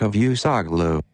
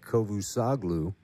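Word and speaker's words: Çavuşoğlu: whoever some crazy name that's pronounced like this according to Google me like a few sock Lu there you go be like Kovu saw glue also said that Ankara is calling upon the u.s.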